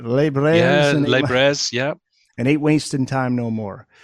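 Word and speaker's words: Les Brers: Did I pronounce that right? Les Brairs.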